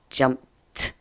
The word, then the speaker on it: jumped: make any sense either jumped yeah that's that T sound at the end of that word so yesterday I jumped